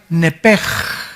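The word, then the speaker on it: נפש: En otras palabras, esa palabra vida es la palabra hebrea nepej. Se escribe nepesh, que es la palabra que se le da para el alma.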